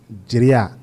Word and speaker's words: Jeria: Mais la vraie prononciation, c'est Jeria.